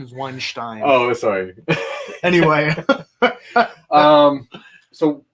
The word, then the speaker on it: Weinstein: filthy like a filthy weinstein uh the correct pronunciation is weinstein oh sorry anyway um so this pretty much